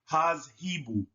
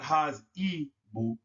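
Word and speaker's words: تذهب: Make sure that the Z and the H in the second syllable are both pronounced hazhibu, not hazibu. That's not correct.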